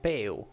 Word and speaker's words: peu: So Peu is the French for less. Less. It's peu.